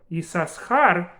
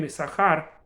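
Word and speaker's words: יששכר: And in fact, there are some communities that pronounce it as Yisachar, not Yisachar, Yisachar. They actually pronounce 2 letters.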